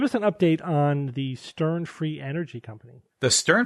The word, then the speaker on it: Steorn: Ireland this uh called Stern that's spelled s e o r r n the O is silent at least in our language at they promised to